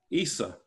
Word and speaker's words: Isa: Isa is a Mandaic spelling of the word. It's how it's pronounced in Mandaic Aramaic. It's Isho in other forms of Aramaic.